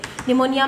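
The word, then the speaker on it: pneumonia: निमोनिया में, है ना, आधे बच्चे बोलते मैम निमोनिया में पी नहीं रहा, पर पी तो साइलेंट लगा है, ठीक है।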